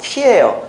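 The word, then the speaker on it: χ: 어르신들 앞에서 문자 써가지고 죄송한데, 이 영어의 X처럼 생긴 게 알파, 베타, 감마, 엡실론 해가지고 쭉 뒤쪽쯤에 위치했던 키라고 읽는 헬라어예요. 헬라어로 키예요. X가.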